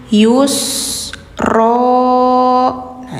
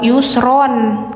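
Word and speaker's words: يُسْرًا: Yusro. Nah, ini bacanya n-nya hilangin. Jadi enggak yusron, tapi yusro. Karena di sini posisinya di akhir kalimat. Jadi hukumnya mad iwad. Gantikan suara n ke panjang. Yang awalnya yusron.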